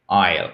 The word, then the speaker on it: isle: Isle. Et vous avez tout de même là aussi une diphtongue, donc il faut bien la prononcer.